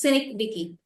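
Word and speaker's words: synecdoche: the next cynic Ticky the pronunciation is cynic Dicky Sy y NE c d o c h e synic decky is used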